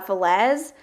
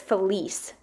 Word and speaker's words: Feliz: last name confuses me it looks like uh FZ that's what I want to say but it's Feliz I don't know why I